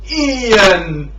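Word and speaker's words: Ein: my hatred of this guy named Ian, spelled with E-I-N instead of I-A-N, and no, not to be confused with Ian Hecox. It's Ian.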